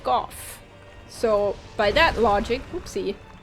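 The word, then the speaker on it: Gough: And his name is actually said out loud by someone in the game, and it's pronounced Goff.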